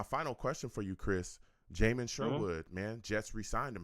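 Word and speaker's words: Jamien Sherwood: Jamin Sherwood, man, Jets re-signed him. How do you feel about that? I think Jalen Sherwood is a great player. I think he has a lot of talent. Jamin Sherwood.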